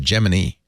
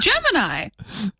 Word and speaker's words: Gemini: Gemini when I was a kid I said geminy like the the NASA yeah the NASA rocket program was geminy right no no no it was Gemini that's how you pronounce it it's it's this